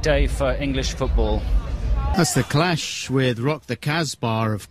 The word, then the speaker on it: The Clash: That's the Clash with Rock the Casbah, of course.